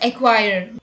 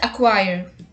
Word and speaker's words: acquire: Many people pronounce this word as acquire, but the correct pronunciation is acquire, meaning to obtain or buy something.